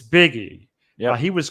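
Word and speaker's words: Bigge: when I was gone Hunter how do you pronounce his last name biggie it's biggie yeah he was called back up and Pitch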